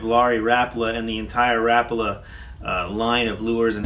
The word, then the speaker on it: Rapala: people call this or is known as a Rapala but I believe the actual correct pronunciation of the name is Rapala and this lure was developed in 1936 by